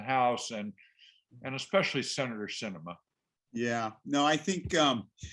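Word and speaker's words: Sinema: she said you know although her name is spelled what s-i-n-e-m-a it's an ema like cinema because it's such a show uh that we're watching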